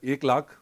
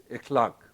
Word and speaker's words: Ekhlaq: don't know me uh my name mispronounced is a clock but pronounced correctly it's with a ap glottis a clock and i am not